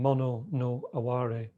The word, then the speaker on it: mono no aware: Very beautiful expression, mono no aware. M-O-N-O, N-O like no, and aware is spelled like a were, A-W-A-R-E.